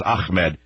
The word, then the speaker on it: Ahmed: It's not Ahmed. It's Ahmed."